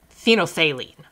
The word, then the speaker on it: phenolphthalein: pink, and it's called phenolphthalein. Phenolphthalein. So kind of that same kind of phthalein in the middle of the word there.